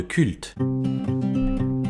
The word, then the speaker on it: CVLT: Aujourd'hui on se parle de culte. Analyse, avis, questions d'actualité, c'est le podcast du Labo des Jeux. Alors, Culte, qui s'écrit C-V-L-T, est un jeu de pli,